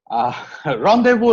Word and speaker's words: rendezvous: There are some French words that have the Z silent. It's laissez-faire and Rendezvous. Find out the meanings yourself. Rendezvous is a meeting point.